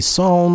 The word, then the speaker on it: psalm: be singing from the psalm of jeremiah Psalm West song it's almost I don't like it it's got silent P per Psalm in any